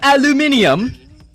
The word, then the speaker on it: aluminium: have some caramel some aluminium aluminium that's actually how you say it no we're stupid as